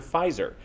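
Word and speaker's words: Pfizer: from the pharmaceutical manufacturer Fizer. Some patients noting a loss of hearing when urinating. Doctors have said there is nothing wrong with the patients. It's just that the P in Fizer is silent.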